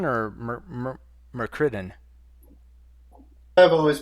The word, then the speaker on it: Myrkridon: Is it Myrkridon or Myrkridon? I've always pronounced it Myrkridon. Yeah, I've always pronounced it that way Supposed as to well. rhyme with Myrmidon.